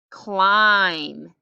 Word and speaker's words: climb: can you read that climb the b is silent and the eye is long even though there's only one vowel in it how about this one